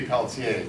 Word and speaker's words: Peltier: should be Peltier. Thank you, Right, French right. Canadian. That's the French Canadian.